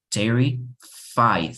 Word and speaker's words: terrified: But we would say, for example, Terrified, o sea, sin la E, terrified.